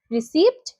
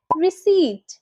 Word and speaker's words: receipt: RECEIPT। কি হবে? রিসিপ্ট? ভুল। সঠিক হবে রিসিট।